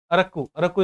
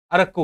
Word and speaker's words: Arakku: अरक्कू is the correct pronunciation. Arakku Valley.